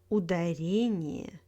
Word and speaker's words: ударение: In words with iya, iye, stress falls on the syllable before iya and iye. Компания, авария, ударение, исключение.